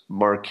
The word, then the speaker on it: marque: Oh somebody's telling me it's pronounced mark a letter of marque alright I guess we